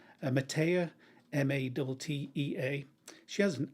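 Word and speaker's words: Mattea: country singer kathy i think i would have pronounced it mattia matea m-a-double t-e-a she has an absolutely gorgeous voice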